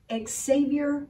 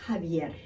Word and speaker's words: Xavier: the teleprompter and she says California Attorney General Xavier Becerra piece like nails on chalkboard because the Attorney General's name is pronounced hub yet I wanted to throw a chancla at my